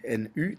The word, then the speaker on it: nu: depuis depuis longemps la lettre grecque nu qui n U qui ressemble à un V mais qui correspond enfin qu'on prononce en tout cas nu 1801 Thomas Yang